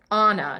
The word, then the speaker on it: Ana: And the funny thing is it's spelled Anna. And my mom told me when I was about 20, she's like, it's Anna, not Anna. I'm like, why did you